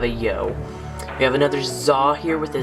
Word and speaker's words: Xa: and he's got a crown of za and that's spelled with an X and not a Z this is kind of